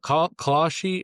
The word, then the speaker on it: Kalshi: But Kalshi, how do you say it?